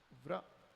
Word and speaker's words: व्र: ये जो र है ना वो ये घोड़ा है, और जो ये आदमी है ना ये व है। अब चूंकि र पे व सवार है तो इसको कह दिया व्र।